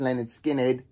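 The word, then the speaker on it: Lynyrd Skynyrd: Case in point, this is Leonard Skinnerd's debut album, pronounced Leonard Skinnerd.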